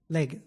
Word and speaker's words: Legge: Is it Legge or Legge? Legge, yeah.